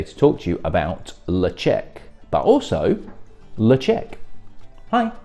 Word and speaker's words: Ledaig: tell you about the distillery itself the oft mispronounced leche is the original scottish gaelic name of the